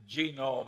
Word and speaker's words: Genome: mentioned that one book genome i have a hell of a time putting the accent on the first syllable but that is a